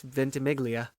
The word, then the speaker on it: Ventimiglia: Lindsay in it I just thought you didn't pronounce it no yeah it's Ventimiglia but okay the second question if you could